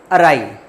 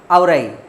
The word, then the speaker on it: awry: हम हिंदी भाषी बच्चे जो यूपी बोर्ड से आते हैं, बिहार बोर्ड से आते हैं या MP बोर्ड से आते हैं, तो हम इसको पढ़ते कैसे हैं? औराई, AWRY, जबकि इसका करेक्ट प्रोनाउंसिएशन होता है अराई।